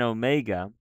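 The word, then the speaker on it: ωμέγα: mouth as sound and then Omega that's a valve that's a long Oh sound like Omega Omega the difference here Omicron is aw Omega is oh oh right you're probably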